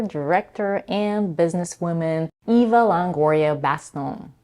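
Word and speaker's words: Bastón: and businesswoman Eva Longoria Baston. I'm not sure if I'm pronouncing her married last name correctly, but I think it's French and it's pronounced Baston.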